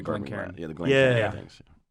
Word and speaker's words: Glencairn: Glycerin? How do you say that? Yeah, the Glencairn.